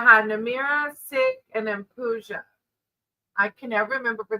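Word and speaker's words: pooja: It's p o o j a. So I feel like it's puja.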